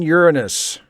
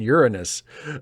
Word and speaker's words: Uranus: Titan Uranus, because I pronounced the name of the planet correctly. Titan Uranus.